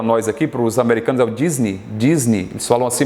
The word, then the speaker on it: Disney: aqui para a Disney Disney só não sei mas nós falamos Disney Disney então a sílaba tônica é no Nei EA vogal é o